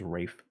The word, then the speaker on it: Ralph: he likes to pronounce it's spelled ralph but everyone says rafe so that looks great